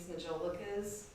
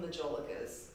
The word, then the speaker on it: majolica: I've always called them majolicas. And then I was listening to Leanne in one of her recent videos, and she pronounced it majolica. What sounds fancier? I know. I'm like, oh. I've never heard majolica.